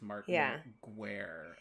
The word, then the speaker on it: Martin Guerre: It is Martin Guerre. Guerre is the French word for war, which I did know,